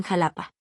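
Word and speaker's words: Xalapa: Contenía la letra X con tres pronunciaciones distintas y muy específicas del español mexicano. El sonido es H de Sochicalco, el sonido S al inicio de Choloit Quintle y el sonido de la J en Jalapa.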